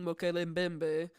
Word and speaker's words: Mokele Mbembe: no, I will say that I'm going to be using Mokele Mbembe, but I will say I looked this up, and apparently it's Mokol or Maukol Bembe.